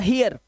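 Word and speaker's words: hear: जब किसी वर्ड में ए इ आएगा और सॉरी इ ए आएगा और इ ए के बाद आपको आर दिखाई देगा। उच्चारण इया करना है।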